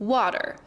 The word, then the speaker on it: water: You pronounce the A very clearly in front of the T, but then you swallow the E. Water. It's almost like it goes straight from a T to the R.